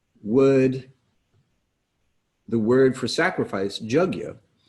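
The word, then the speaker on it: yajña: the word for sacrifice jug you the y is sometimes pronounced with a little bit of a j sound so y and j combined why would sacrifice specifically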